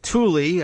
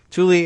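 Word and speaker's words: Thule: the air base at Tuli I think is the pronunciation t hu l e Tuli Air Force Base 750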